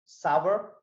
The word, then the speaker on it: sour: SOUR, sour, खट्टा। बहुत लोग इसको सार बोलते हैं, but I pronounce it sour. That's how the native speakers pronounce it.